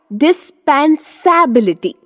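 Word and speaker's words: dispensability: डिस्पेंसेबिलिटी। लेकिन रुको, इसे डिस्पेंसेबिलिटी नहीं बोल सकते क्योंकि ABLITY इसे एबिलिटी कहते हैं, एबिलिटी नहीं। सो the correct pronunciation of the word is डिस्पेंसिबिलिटी।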